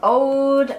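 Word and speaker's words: Oud: It's either called Ode or something like that, but it's spelled O-U-D.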